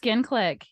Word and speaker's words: Skin Clique: but she's the co-founder of Skin Am I pronouncing this right? Skin Clique? Clique.